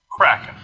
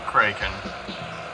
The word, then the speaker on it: Kraken: Now this one I've heard pronounced kraken or kraken. I remember as a child as kraken because in the story I heard it was described as being named by the sound it made as it broke the ship, as the ship was cracked in half.